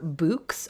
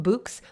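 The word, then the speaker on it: Bouqs: sustainable online retailers like books i think i'm pronouncing it correctly b-o-u-q-s dot com books like bouquet b-o-u-q-s dot com and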